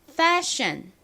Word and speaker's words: fashion: S-H-I-O-N 역시 션 발음이 나서 앞에 F-A가 붙으면 fashion 이라고 읽죠. fashion. 저희는 보통 passion 이라고 말하는 그것 발음 따라해 볼게요. fashion. F를 좀 세게 발음해 주셔야 합니다.